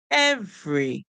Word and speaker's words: every: not hearing the E the E here is not making any sound e and r together we know say but in this word they are not coming together um to say the E is silent and the r is making the sound R so we hear EV